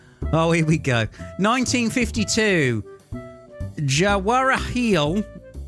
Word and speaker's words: Jawaharlal: Jawaharlal. Jawaharial.